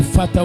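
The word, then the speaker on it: Ephphatha: ne s'éteindra jamais et fata on peut le prononcer fata ou c'est un terme aramé les Grecs l'ont écrit aussi de leur manière les autres qui écrivent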